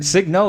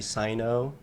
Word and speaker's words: Signo: Signo is how you pronounce your last name, Yeah, right? Signo. Okay, It's always- Signo. That's a people always- sick last name. People always say Sino. like the G is silent.